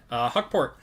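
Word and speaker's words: Hukporti: Huckport. That's how you say it. Huckporty. Yeah, Select's always got some funky names in it. D-Book. LeBron on the Disco. That's Şengün. Nope. That's going to be Huckporty again for New York to 99 there.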